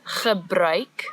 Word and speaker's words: gebruik: So the word is gebruik, the ch sound as before, and now we've added a new sound, oi.